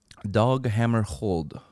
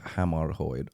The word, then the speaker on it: Hammarskjöld: Dag Hammarskjöld. It's hard to pronounce.